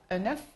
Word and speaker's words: œuf: œuf au singulier, quand il est écrit au singulier, on prononce le F, un œuf, mais au pluriel, comme ici, on ne prononce plus le F, ça fait ces œufs non fécondés.